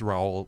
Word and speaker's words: Raoul: of differently and and it's sort of a French so it's it's really just row and you know right